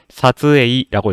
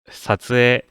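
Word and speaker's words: 撮影: 이거 한국어로 그대로 한글로 그대로 적었을 때 사즈에이라고 읽겠지만 에와 이가 만났잖아요. 그래서 앞 음절인 에를 길게만 발음합니다. 사츠에 촬영이란 뜻이고요.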